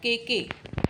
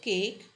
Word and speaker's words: cake: Example, cake. It's not kk. It's cake. E is silent in this case, right? So example, cake.